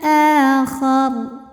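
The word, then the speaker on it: الْآخَرِ: Jika berhenti di huruf ra, maka ra ini disukunkan dan dibaca secara tafkhim sebab huruf sebelumnya berbaris fathah, maka dibacanya tebal, akhar. Namun jika diteruskan, ra-nya ini dibaca tipis karena pasti ra-nya masih berharokat kasrah ya.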